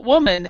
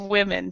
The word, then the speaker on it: women: women women okay women so woman and women and everybody pronounces uh pronounces it woman inste instead of women so that's the the